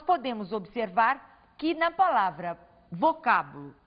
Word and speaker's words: vocábulo: exemplo vocábulo na palavra vocábulo nós temos aqui a última sílaba a penúltima sílaba a antepenúltima sílaba ao pronunciarmos a palavra vocábulo nós acentuamos a antepenúltima sílaba o mesmo vai acontecer